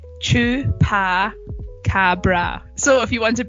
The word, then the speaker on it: chupacabra: you're gonna sorry also don't know how to pronounce it it's true par Cabra so if you want to break it down